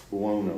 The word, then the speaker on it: Buono: Buono.